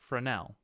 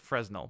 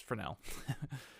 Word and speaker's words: Fresnel: going to type in frenel is how you say this it looks like fresnel but trust me it's frel and and once we